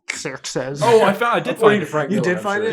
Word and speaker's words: Xerxes: It's pronounced Xerxes.